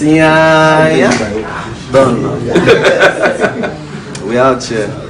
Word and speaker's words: Iyanya: It's Iyanya.